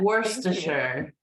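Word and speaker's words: Worcester: gluster oh I would never have guessed that Worster oh that's another tough one and she's got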